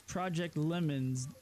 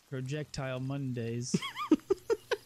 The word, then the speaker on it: Project Lemons: It's Project Lemons DayZ, but I pronounced it Projectile Mondays.